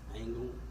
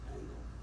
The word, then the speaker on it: Angel: i s h a the last name is pronounced angle but spelled like Angel a n g e l but it's pronounced angle so an incident occurred